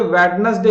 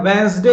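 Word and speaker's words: Wednesday: वेडनेसडे तो याद रखना यह वेडनेसडे नहीं होता वेनसडे होता है वह इस डे ठीक है आप इसमें जो डियर भाई ए साइलेंट है वेनसडे वे ठीक है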